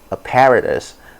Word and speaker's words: apparatus: they say a paradise apparatus in british english is apparatus american english apparatus nigerian english apparatus apparatus yes it's apparatus